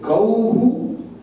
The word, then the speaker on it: गौः: और औ जो वर्ण है वो अ उ मिलके औ बनता है, इसलिए औ के अंत में उ उच्चारण करना पड़ेगा। तो गौः रामैहि और बाकी में जो वर्ण है उसी को लेना पड़ेगा।